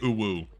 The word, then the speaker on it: UwU: How do I pronounce UWU? I say oo. I feel like that's the easiest way to pronounce it.